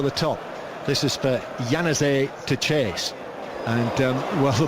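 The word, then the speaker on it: Januzaj: It was in the corner there by, how do you pronounce that again, Giles? Yanazé.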